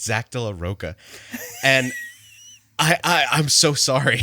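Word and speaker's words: Zack de la Rocha: has always called him Zach de la Roche, and it's Zach de la Roca.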